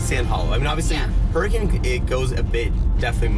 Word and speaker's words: Hurricane: hurricane so basic and it's hurricane not hurricane just you know again it's just how it's pronounced and so what we